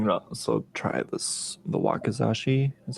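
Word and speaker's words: wakizashi: nothing um I'm gonna also try this the wakazashi is how you pronounce it yes fortunately no progress made here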